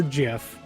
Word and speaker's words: GIF: a little video um you can pronounce it gif or jiff okay um that has